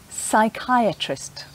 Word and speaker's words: psychiatrist: or polar bear but sometimes appear the beginning of a word is silent like in some medical words like psychiatrist or psychologist or there can be a silent p in the middle of a word like receipt sometimes the letter p